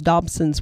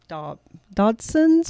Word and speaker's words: Dodson: It's just, again, those Dobsons were up in that area too. Dodsons? Dodson. Dodson with a D. I always want to say it wrong.